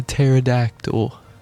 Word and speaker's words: pterodactyl: And now the pterodactyl cuz the P is silent.